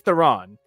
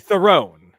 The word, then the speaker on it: Theron: way to say it, because it is Theron, because it's supposed to sound almost like throne. It's like it's like throne. It's not like Theron. Oh, so it's like Theron.